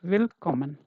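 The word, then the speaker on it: Willkommen: So this is will will because two consonant you have to read quick. Okay. If you see two consonant then this will become sort. Okay. So this becomes will and then common com and common. So this becomes will common. Okay. Will common.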